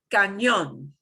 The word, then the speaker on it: cañón: Cañón. Cañón. Cañón. Because we do this sometimes in English. We Cañón. just don't spell it that way, right?